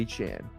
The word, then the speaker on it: Etienne: I don't know if I'll be able to mentally correct myself and say Achan. Trevor Achan. That's how he said his name is supposed to be pronounced.